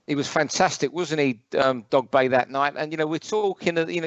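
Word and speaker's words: Dogboe: We learnt it's Dogbay, even though it's spelled Dogbo.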